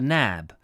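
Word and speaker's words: Knab: The ancient name for Brighton Place was the Nab, spelt with a K, K-N-A-B, a word that has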